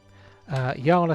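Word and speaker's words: Jala: So they say Yala speaks up. She says, because the J is pronounced Y, she's obviously Eastern European.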